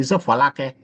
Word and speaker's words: Folake: Okay, I'm pronouncing it like English. It's a Folake.